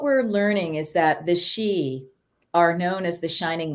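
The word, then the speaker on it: sidhe: a little bit about the Fey and the she and the two up to Donna I've talked about this in some other area and you know some other venues but so what we're learning is that the she are known as The Shining ones and that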